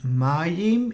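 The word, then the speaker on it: מים: because the following letter the letter mem can be doubled which is also called gaminated and denoted by the dagger here this this dot here in the middle so therefore we stick with a short a sound so it's actually 2 m is here and Mayim is the word for water but it's also in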